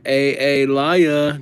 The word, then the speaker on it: Alaya: Sorry, A Laya. Just joking. I know that it's Alaya. The second A is silent, dude.